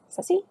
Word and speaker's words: Ceci: Kessie? Ceci? Ceci? You'll have to tell me. Is it a hard C or a soft C? I'm thinking soft C. Sounds like an S. Ceci?